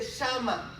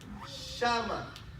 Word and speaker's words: shama: Es decir, esa palabra oyó en hebreo se dice shama. Shama. S-H-A-M-A o shama, porque lleva acento en la A.